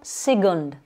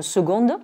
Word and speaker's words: second: Donc, ne pas dire second, mais second. Et on accentue bien sur la première syllabe.